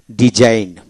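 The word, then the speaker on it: design: এখন আসেন জি সাইলেন্ট যেমন ডিজাইন টি এস আই এন ডিজাইন জি উচ্চারিত হবে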